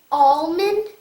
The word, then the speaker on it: almond: word is almond now the word almond just like Almanac also begins with the letter A and the letter A makes that you do not sound almond ah the next word is